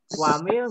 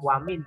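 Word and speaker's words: وَمِن: Nah, wamil nggak boleh dibaca wamin syari, nggak boleh, harus dibaca ikhfa atau samar. Bacanya wamil gitu ya, nggak boleh dibaca wamin, tapi harus dibaca samar.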